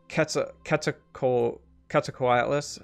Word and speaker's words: Quetzalcoatlus: It's actually Quetzalcoatlus. I always mispronounce it. The bird is named after Quetzalcoatl, right? Right. Like Quetzalcoatl is my name in my Discord. right. So that's I always remember that's how you pronounce it, because when I was in like the 7th grade, my teacher said just remember ketchup bottle.